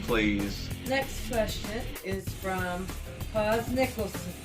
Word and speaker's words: Paz Nicholson: Next question is from Paz Nicholson. Paz Nicholson.